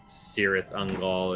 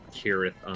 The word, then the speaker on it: Cirith Ungol: In Lord of the Rings, like a lot of times, yeah, C's are pronounced as S's or K's. Like instead of like, you know, Cirith Ungol, it'd be like Kirith Ungol.